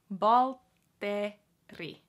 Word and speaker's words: Valtteri: Valtteri. Again, remember the double T. Valtteri. Valtteri. Valtteri. Valtteri. It has the r sound in it too, so it has the double T plus the rolling R, so combined together